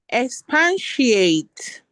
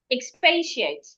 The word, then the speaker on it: expatiate: Expansiate is not pan. If you look at the spelling, there is no p a n there. Expatient. Expatiate.